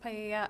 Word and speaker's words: paella: going to be used to cook paella. I'm not sure if that's how you pronounce it at the party. It's pronounced paella.